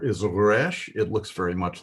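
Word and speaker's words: ריש: This letter is pronounced in the back of your throat. Move your tongue back a little bit in the back of your throat and pronounce it resh. It's pronounced back here, not with your lips in the front. It's not resh, pronounced with the lips.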